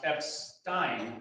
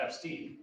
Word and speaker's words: Epstein: FYI, Alex's last name is pronounced Epstein, not Epstein.